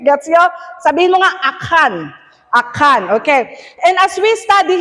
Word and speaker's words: Achan: Okay, so in Joshua chapter 6 and chapter 7, I usually say Achan, pero idedadalin mi ti Old Testament kakabsat kung nada mali-mali ti pronunciation nyo, dapat kanukit Achan.